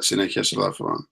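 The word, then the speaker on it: Συνεχές ελαφρόν: Little reminder here, Συνεχές ελαφρών always begins a new syllable. That means these two as are two different syllables. Sotiria afto. Okay, so important to have at least a glottal stop there in the middle of that Sinekes elafron.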